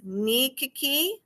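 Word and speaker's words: nikki: One was the court diaries, pronounced Nikiki.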